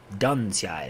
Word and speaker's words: Duncia: Duncia is how he says it's pronounced.